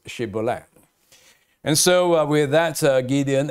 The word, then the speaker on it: shibboleth: up certain accent and they could not pronounce shibboleth and so with that